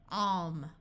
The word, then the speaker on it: calm: If you have LK or LM, then the L will be silent.